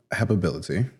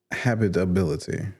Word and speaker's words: habitability: Um, he intentionally broke the warranty of habibility. Why does How's that word so funny to me? Hab habitability. No, it's habit. Habitability. Okay, I'm saying it wrong. Huh? Habitability. Not habit.